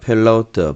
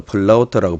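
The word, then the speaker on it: פלאות: 자, 오늘 그 129절부터 136절까지 8절인데, 자, 펠라우트 발음도 여러분 한번 보시면요. 자, 펠라우트 그죠? 또 플라우트라고 발음하기도 하는데 플라우트 놀라움입니다.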